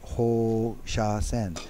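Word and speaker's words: 放射線: So the translation for radiation is Ho Sha Sen. So the reason that I pronounced the Ho very long is with that little thing on the top of the O means you pronounce O twice.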